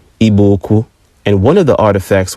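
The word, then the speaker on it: Igbo-Ukwu: Nigeria at a site called IBO uku properly pronounced ibuku and one of the artifacts was a distinct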